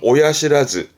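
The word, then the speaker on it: 親知らず: 요거를 많이 쓰는 편 발음은 오야시라즈 오야시라즈 오야 건 그렇죠 부모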